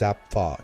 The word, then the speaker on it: Zapffe: Then came Zapffe, often pronounced Zapffe in his native Norwegian.